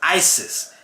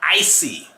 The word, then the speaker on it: Isis: It's Isis. It's not Icy.